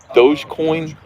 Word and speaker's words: Dogecoin: think it's doggy coin dogecoin i think people people are calling it doge but i think it's dog e coin because it's a doggy i uh i have